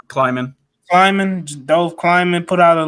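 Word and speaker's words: Dov Kleiman: I think it's Dove Killman. Is that how you pronounce it, Mike G? Kleiman.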